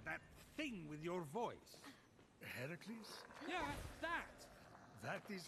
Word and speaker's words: Heracles: you doing there that thing with your voice heracles yeah that that is how it's supposed to be pronounced oh get a room foreign